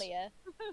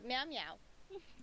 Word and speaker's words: Mjolnir: pronounce Mjolnir Mjolnir. in the Thor film, and they go meow meow.